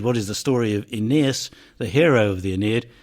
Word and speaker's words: Aeneas: His name in Latin, and indeed in Greek, consists of three long syllables. Aeneas.